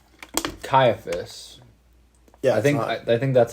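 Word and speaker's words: Caiaphas: cuser I don't know no it's not sephus caiaphus I think I think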